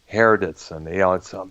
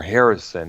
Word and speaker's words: Hardison: Hardison. It's hard to pronounce. You can't help but become confused by the way it's pronounced here because Hardison is often mistaken for Harrison at times, Right.